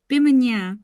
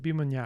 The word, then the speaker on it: Bimunyaa: It was hard to pronounce. Okay. Can we find it? Where did we name it? Is it this? Bimunyaa? Bimunyaa. Yeah, that's the one. Bimunyaa.